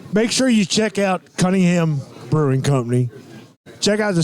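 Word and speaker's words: Conyngham: and you know you the way it's spelled the way it sounds it spelled like Coney Island yeah people have a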